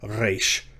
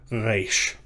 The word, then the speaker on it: reish: So I would encourage you to try to work on pronouncing it in the back of your throat, like reish, reish.